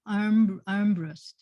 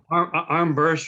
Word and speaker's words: Armbrust: Oh, Armbrust, right? Yes, actually, you've pronounced it correctly. One of the few people that do. What do people say? Armburst or Armbruster. Oh. You just have to read where the R and the U are.